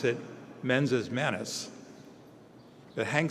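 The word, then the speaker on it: mens et manus: We pronounce it menses manus, but Hank says, make things, learn stuff.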